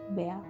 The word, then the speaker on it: Bar: That's the nickname she and my grandparents used for me when I was growing up, often shorter to Bar, pronounced Bear.